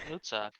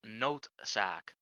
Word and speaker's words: Noodzaak: Yeah, the correct pronunciation of that god's name is Noodzaak, because it's Dutch.